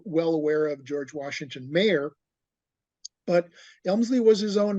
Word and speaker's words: Maher: Mayer. Thank you, Mayer. Yeah, Mayer, it's pronounced.